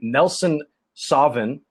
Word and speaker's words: Nelson Sauvin: And Nelson Sauvin, and I think that's how you say it. It's like Sauvignon, Nelson Sauvin, which is also out of, I believe that's New Zealand.